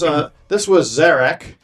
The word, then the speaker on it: Zarek: So this was Zarek, rhymes with attack.